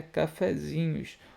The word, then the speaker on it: cafezinhos: toda proparoxítona tem acento porém a acentuação tônica de cafezinhos é na sílaba zi é uma paroxítona paroxítona terminada em o